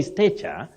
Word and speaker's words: stature: But many people find themselves saying stature. Ster. No, you don't say stature. You say stature. Oh, stature. We have the word status. But that one or this one, we say stature. That a takes the low front sound. Ah, not sound e.